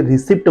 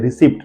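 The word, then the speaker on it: receipt: ध्यान से देखिए रसबेरी यहां पर भी पीस साइलेंट है देन रिसीप्ट लोग इसे रिसीप्ट बोलते हैं रिसीप्ट नॉट रिसीप्ट इट is called रिसीप्ट यहां पर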